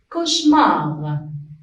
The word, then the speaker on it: cauchemar: Donc ici, la lettre A avec U, on la prononce O.